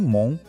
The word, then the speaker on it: Mont: Em Mont, o T lá no final é mudo, a gente ignora.